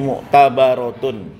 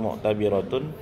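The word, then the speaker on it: مُعْتَبَرَةٌ: alat tahrim ya anniatu fil uquudi muktabaratun ya bukan muktabiratun.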